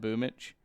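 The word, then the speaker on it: Boombl4: I was just like how do you say his name and he said boom Mitch I don't know how it comes out like that because it does look like Boomer I will give all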